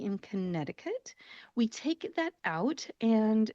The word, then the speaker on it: Connecticut: When you look at the spelling, it looks like it should be Connecticut. Connecticut. However, we do not pronounce that middle C in front of the T in Connecticut.